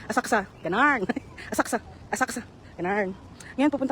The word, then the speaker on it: Asakusa: At guys, hindi pala Asakusa ang pagkaka-pronunciation. Asaksa.